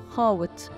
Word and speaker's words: خاوت: او طاوله عليها الخبز والشاي بتتنطق خاوت وكان بيكتب على